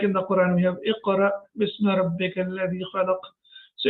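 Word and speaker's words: اقرأ: Iqra. Now here it is sakin. So when Hamza is sakin, we pronounce it with a small jerk. Like in the Quran, we have Iqra bismi rabbika alladhi khalaq.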